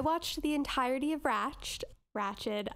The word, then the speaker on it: Ratched: the entirety of ratched ratchet oh i'm bad i always keep calling it raj because that's how it's spelled um we will never